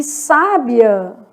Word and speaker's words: sábia: E sábia, tem acento no vizinho, o final fica juntinho.